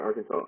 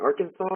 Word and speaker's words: Arkansas: question is is it Arkansas or is it Arkansas well I believe uh the consensus would be Arkansas yeah I don't think that state looked very much like Kansas at all anybody else have anything